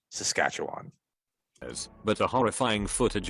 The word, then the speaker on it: Saskatchewan: is really cool northern saskatchewan got a lot of visits from local bear he means saskatchewan it's it's it's a province in canada it's pronounced saskatchewan as but a horrifying